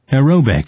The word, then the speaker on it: aerobic: 실제 발음은 aerobic, 그렇죠. 에어로빅. 그래서 뒤에 있는데 IC로 끝났죠. 바로 앞에 있는 여기. 그러니까 지금 TION, SION, ITY 그 다음에 뭐 이것처럼 IC 이런 걸로 끝나는 말들은 강세를 바로 앞에 줍니다.